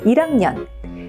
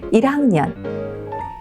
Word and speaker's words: 1학년: 합니다만 1 아닙니다 1학년이 리을이 올라가지만 거기에 약간 거센 소리를 태워라 이런 느낌으로 발음하시면 됩니다 다시 한번 들어보실까요 1학년 1학년 2학년 2학년 3학년 3학년 4학년 4학년 이렇게 비교하시면 되겠습니다 한번 따라해 보실까요 1학년 그렇죠 2학년 그렇습니다 그리고